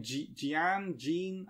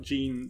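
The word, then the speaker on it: Jeanne: I can't pronounce her name. Jean? I think it's Jean. It's spelled... J-E-A-N-N-E. So Jean? Yeah, Jean sounds right.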